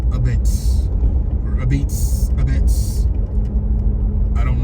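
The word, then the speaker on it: apizza: a pizza like a p i z Za a it's pronounced abits or abits abits I don't know why but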